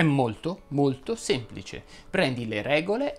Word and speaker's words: semplice: non è mai semplice semplice va pronunciato chiuso ricordi il pontefice incontrò